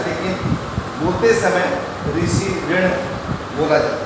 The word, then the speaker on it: ऋषि: महाराष्ट्र, दक्षिण भारत में ऋषि का उच्चारण रू के रूप में, वहाँ के स्थानीय लोग इसका उच्चारण रू के रूप में करते हैं, लेकिन लिखा जाता है ऋषिकारी है, लेकिन उच्चारण में रू किया जाता है।